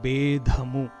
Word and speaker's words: Bedha: There is a difference in pronunciation between Bhedamu and Bedhamu. The meaning also differs. Bheda, Bedha. Bheda is difference. Bedha is breaking.